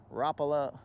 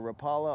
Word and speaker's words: Rapala: We put a little swim bait on, and we put a little rapala or rapala on. Depends on how you want to pronounce it.